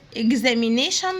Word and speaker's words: examination: قلنا حرف الاكس ليه صوتين في النطق، يا اما انطقه زي حرف الجي والزد مع بعض، يا اما الكي والاس. هنا هننطقهم زي حرف الجي والزد، فهنقول ايه؟ اجزاء. يبقى انا كده نطقت الجي مع الزد، ده مكتوب مع بعض في النطق يعني. examination room والتي اي او ان بننطقهم شن.